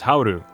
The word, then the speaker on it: Howl: Howl is just one syllable in English, but 2 syllables in Japanese as hauru.